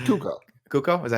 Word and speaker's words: Cuoco: How do you say your name? Cuoco, I think. Oh. Cuoco. No, Andy got it. It's Cuoco.